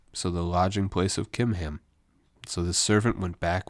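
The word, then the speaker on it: Chimham: they head to Guth kimam so in English it's with a CH but the Hebrew language doesn't have a a CH sound like we did so he pronounced those like a k kimam is actually a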